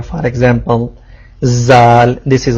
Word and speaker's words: ذال: If you touch tip of tongue with edge of upper front teeth, you can pronounce letter zal.